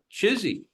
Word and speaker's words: CHSI: human superintelligence chsi which if you were to see it printed out would be could be pronounced uh chizy right Collective human superintelligence